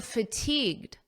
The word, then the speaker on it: fatigued: You may notice that the pronunciation is almost identical because this D in fatigued is extremely soft and you don't really hear it at a natural pace.